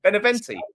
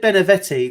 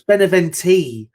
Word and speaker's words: Beneventi: Beneventi. You said Benevetti, then you went Benevente. It's Beneventi. Beneventi.